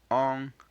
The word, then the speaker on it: on: shall make use of one particular pronoun which is the on pronoun the o n which is pronounce on and just so you